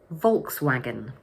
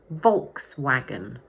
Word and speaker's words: Volkswagen: But in English, we say: Volkswagen. So the word has three syllables, and the first one is stressed. Volks-wa-gen Volkswagen Here's another example of a German car that is pronounced quite differently in English.